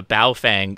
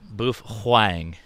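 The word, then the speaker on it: Baofeng: movies have a guy with a with a bow Fang strapped on their arm or their shoulder and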